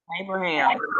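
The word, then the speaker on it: אברהם: So that first word all the way over to the right, accent on the last syllable, Abraham. Who name is that, sis? Abraham.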